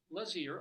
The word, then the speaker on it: Lazear: Because some of these things, is it Lazear, is it whatever? It's Lazear, apparently. And now, ladies and gentlemen,